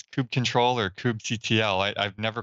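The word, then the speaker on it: kubectl: we go xar I I love hearing people's pronunciations of stuff so Peter like you use kubernetes do you call it Cube cuddle Cube cuddle yeah sure see yeah I don't do that it's it's Cube control or cube CTS I've never called it CP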